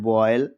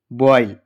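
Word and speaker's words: boil: जब किसी वर्ड में ओ आई आए तब भी हम ध्यान रखना जब किसी वर्ड के बाद ओ ओ के बाद वाई आए तो हम आई से पढ़ते हैं।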